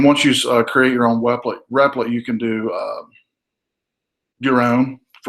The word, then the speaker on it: REPL: And by the way, one of the reasons I use the REP, the replet is how I pronounce it, is because it's on